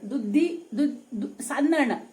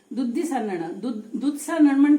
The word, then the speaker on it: Duddi Sannana: Some people call it 'God Idly' (Sweet Idly) Instead, I request you all to call this 'Duddi Sannana', as it is called in Konkani. Duddi? Sannana Sannana means steaming it.